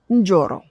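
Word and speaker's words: Njoro: Notice I sayro because it's spelled N J O R O. There is no it's the N is really not silent but there is there there are two consonants next to each other and there's no vowel in between.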